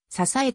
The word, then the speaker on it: 竹筒: 入れて携帯する竹筒は竹筒と書いて支えと読む戦前までの南